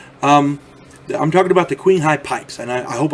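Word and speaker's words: Qinghai: I'm talking about the queen High pipes and I I hope I'm saying that right it's it's spelled q i n g ha a i Queen High King High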